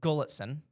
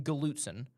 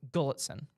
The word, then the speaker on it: Gulletson: It's Glenn Gulletson. I I kept saying Galuten. It's Gulletson. It's a Gully.